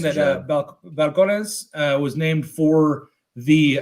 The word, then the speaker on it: Balcones: got its name so it is pronounced like the V so it is vcon Balcones balcon try to contain